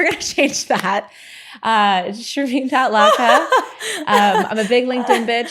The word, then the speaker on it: Shermin: It's spelled like Sherman, pronounced Shereine. It's S H E R M I N L A K. And I'm standing by that. I'm never going to change that. Uh, Shireen.A.